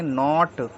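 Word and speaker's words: knot: इसको पढ़ेंगे केवल नो के एनटी इसको हम पढ़ेंगे नॉट के एन आई एफ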